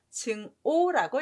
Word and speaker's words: 증오: 여기에서 주의할 점은 아카락자가 미워할 오라는 발음을 한다는 게 좀 중요해요. 발음 두 개라는 거. 그래서 증악이라고 읽지 마시고 증오라고 읽으셔야 돼요.